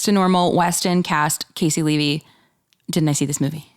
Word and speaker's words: Casey Levy: It's Casey Levy. Am I saying it right? Yes. Okay. I always want to say her name is Cassie.